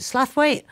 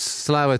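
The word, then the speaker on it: Slaithwaite: for pronouncing it wrongly is it slafweight or slow um I I get told off as well because I'm from East London originally it's um it's slow in local dialect but you have to be born and bred there I wish I had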